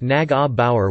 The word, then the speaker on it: Neugebauer: Neugebauer, pronounced Nag-a-Bauer, was born in St.